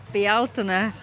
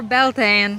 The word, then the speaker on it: Bealtaine: We're here for the Bealtina or Belan, however you want to pronounce it, fire festival.